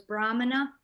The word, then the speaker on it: Brahmana: Where's the accent? It's, over that first A? First? Yeah. First syllable? Yeah. So it's Brahmana. Right. Yeah. Right. I think when there's that accent thing, you sound the A like more with an open mouth.